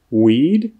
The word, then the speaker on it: weed: Weed, wheat. Weed, wheat. Tady je opravdu moc vidět, jak hrozně důležité je rozlišovat mezi d a t na konci slova.